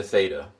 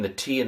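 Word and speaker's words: θῆτα: I couldn't believe it but zeta ada theta. Theta you may know from other places. First letter of the Greek word for theology god. I'm going to transliterate it as a th and pronounce it as a th.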